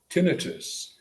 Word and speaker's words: tinnitus: Now I accent the first syllable, call it tinnitus, as if that's an explanation.